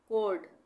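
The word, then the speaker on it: chord: एंकर इस तरह से नहीं पढ़ रहे ना, हम पढ़ रहे हैं एंकर, तो एच साइलेंट है। ये क्या है, कोड, कोड, कोड में भी एच साइलेंट है, कोड।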